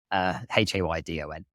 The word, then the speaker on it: Haydon: Haydon is spelled Haydon, not Den. Everyone says Den. Haydon.